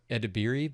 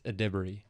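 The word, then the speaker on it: Edebiri: I ado Ediri but it's not. It's Adbury.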